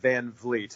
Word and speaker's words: Van Vliet: I must point out my last name is pronounced Van Vleet and it is a tough one when you look at it I know yeah we